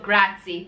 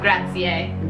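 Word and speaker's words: grazie: oh see okay so there is a restaurant in Toronto called grazi but really grati gra gra quel gra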